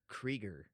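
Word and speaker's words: Krieger: pronounce it it well it's k r i e g e r creger but it could also be Kiger because that you might be silent you never know that's why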